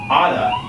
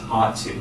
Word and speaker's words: oughta: Okay, so oughta is ought to.